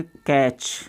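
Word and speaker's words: catch: Okay, यहाँ पर अपना टी साइलेंट है क्योंकि इसके बाद में तुरंत क्या आएगा CH। इसको जैसे कैच, इसको बोलेंगे क्लच।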